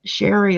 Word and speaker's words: Shari: Just tell them it's just Sherry, like Mary, but you're using an SH instead of an M and an I instead of a Y.